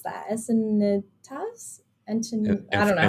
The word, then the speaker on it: Encinitas: Encinitas? I don't know how to pronounce it. Infinitas? There you go. It's Thank you, probably Raul. Encinitas.